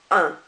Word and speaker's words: un: the time the UN which is masculine is pronounced on um you're barely base you're barely pronouncing that